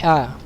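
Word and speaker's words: ح: harus seperti itu ya Pengucapan ya jangan Ha jangan disamakan dengan huruf H besar ya jangan Antum baca ha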